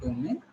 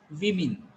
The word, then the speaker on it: women: It is not woman. The people have to pronounce it women. It is women.